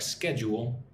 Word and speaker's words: schedule: If you say it quickly, it's like schedule or schedule. Yeah. Schedule. Let's schedule a follow-up meeting for next week. So, it's it's like it has two syllables. Schedule. Emphasis on the first syllable.